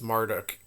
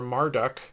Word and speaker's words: Marduk: to spell Marduk huh texts from the old Babylonian period support the pronunciation maruu or marut with the shortened spelling maruk or Marduk attested starting from the cite period his name in Hebrew merod supports the longer version the first Millennium Assyrian